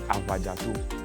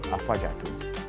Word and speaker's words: Afadjato: But then, as our first tourists came by, they can pronounce Afadjato.